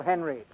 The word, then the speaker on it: Henreid: He pronounces his name Paul Henreid.